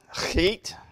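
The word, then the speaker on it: Scheat: The second one is Chet, S-C-H-E-A-T. You go with that.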